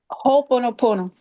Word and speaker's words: Ho'oponopono: Ho'oponopono.